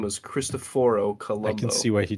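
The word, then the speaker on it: Cristoforo Colombo: name what his real his real name is christophor Columbo and that's how you actually pronounce his name in the original angulation where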